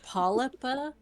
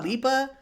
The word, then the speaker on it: Polypa: Presuming that other one is Polypa, like a Polypa, polyp. yeah. Honestly, Are I'll they be related to sea creatures or anything? No, it could be Oh. Polypa, Polypa.